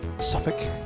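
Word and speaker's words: Suffolk: It's always just f you go you just skip every you just go you skip from the F to the K. Don't worry about anything in the middle.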